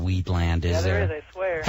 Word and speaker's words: Wheatland: W-H-E-A-T-L-A-N-D. Wheatland. Land of wheat. Oh, much different than the way that Sherry put it, Weedland, land of weed.